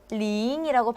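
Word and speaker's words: 零: 숫자 중에 하나죠 자 일단 발음이 어떻게 될까요 링이라고 발음합니다 발음이 링이라고 발음을 하는데 굉장히 많은 숫자가 있죠 자 일단은 10이라고 있는데 중국어는 어떻게 있냐면 1 0 1이라고 발음합니다 0을 살린다는 거예요 0을 살려 준다는 거죠 자 그러면 1배 이바 0링이라고 발음을 해요 여기까지 괜찮아요 메이원티 하는데 천 단위부터 조금 깊게 들어갑니다 자 1천 0 1이라고 발음 한다는 거죠 자 그러면 1차 이치엔 링링이일까요 링이라고 발음을 해요 왜냐면 자 멋있게 나오고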